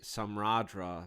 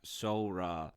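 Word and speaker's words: Samhradh: I want to say Samradra because that's how it looks, but it is in fact Sora.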